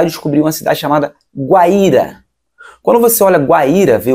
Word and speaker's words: Guaíra: Guaíra tem um acento. Tem um acento no I, o I fica sozinho, o I tem força de vogal, logo nós teremos um